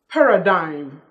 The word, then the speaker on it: paradigm: just say among among but among then G is silent in was like paradigm paradigm do you know this friend of paradigm